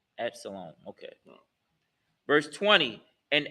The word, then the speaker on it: Absalom: It's pronounced Absalom. Absalom.